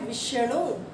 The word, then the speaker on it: विष्णु: आप सिर्फ बोलने का ध्यान देना है, आपने उच्चारण का ध्यान देना है कि हम कैसे उच्चारण कर रहे हैं इसका। अब एक है विष्णु, विष्णु, तो विष्णु, ये भी वैसे ही लिखेंगे हम, विष्णु।